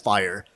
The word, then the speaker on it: FHIR: is what led to the creation of hl7 fire f-h-i-r is pronounced fire fire stands for fast Healthcare interoperability